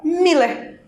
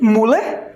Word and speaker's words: Müller: Eu pego, por exemplo, a palavra Miller. Pois é, Miller ou Müller, né? Que aqui algumas pessoas acabam pronunciando deste jeito, porque tem o tremazinho. Esse trema dá o som da letra I, né?